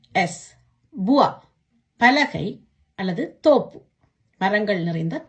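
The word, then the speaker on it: bois: இந்த வா என்ற சத்தத்தை எப்படி உச்சரிக்கணும்னு பாப்போமா? பே ஓ இ எஸ் புவா, பலகை அல்லது தோப்பு, மரங்கள் நிறைந்த தோப்பு.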